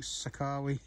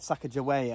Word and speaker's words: Sacagawea: car we yes a second way or something Shekhar we is actually called Sacagawea I think it's named after feel like she